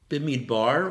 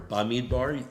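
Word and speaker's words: Bamidbar: you're here with us bimmy bar or by me Barney either pronunciation is fine is about the wandering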